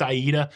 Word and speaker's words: AIDA: names of those cruise ships just because it's pronounced Aida all those cruise ships have an interesting name